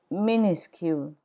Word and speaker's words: minuscule: lowercase is minuscule minuscule minuscule the final s is not pronounced in minuscule minuscule let's see how